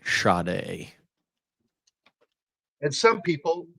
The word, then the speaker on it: Sade: Yeah, Sade, but it's pronounced Sade. And some people pronounce it Sade, which I don't know why. It's Sade, but it's, she pronounced it on an interview with MTV, and it was Sade.